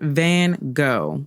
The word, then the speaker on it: Van Gogh: probably butchered but vincent van gogh is how it's most commonly pronounced in the u.s and what i think